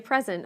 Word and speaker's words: present: My friends gave me a present on my birthday. What's the difference between the nouns and the verbs? We stress the first syllable in the nouns and the second syllable in the verbs.